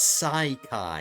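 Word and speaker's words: Saikai: Or no, it's Sai Kai. It is spelled differently. S A I K A I, not S A K A I.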